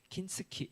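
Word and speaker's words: 金継ぎ: 일본 발음은 킨츠키 혹은 킨츠크로이라고 하는 일본에서 유래된 도자기 수리 기법입니다.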